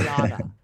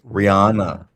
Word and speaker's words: Rihanna: Say it with me. Rihanna. Not Rihanna. Rihanna. Rihanna. So it's a silent H. Ah. So you gotta say you gotta say it like the British. Then Rihanna. you gotta remove the H's.